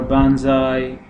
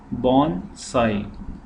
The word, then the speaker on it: bonsai: So it should not be pronounced like bonsai or banzai. So it's, as the word you can see, it's bon and sai. So it should be pronounced bonsai.